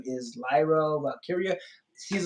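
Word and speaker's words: Valkyria: Russo you know how Vince Russo mispronounces things all the time he refers to her as Lyra velcro every single time in yeah he always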